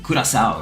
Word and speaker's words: Curaçao: This one from Curaçao, right? That's how you say it. Round one. Curaçao.